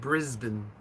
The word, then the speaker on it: Brisbane: named sean he was irish okay brisbane is pronounced brisbane okay learn something new every day adonis i